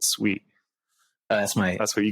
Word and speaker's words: Sui: that's building sui the sui I kept I kept calling it sui and only in the conference I learned that you pronounce it sweet that's my that's what